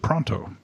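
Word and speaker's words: Paranteau: She she pronounced it pronto.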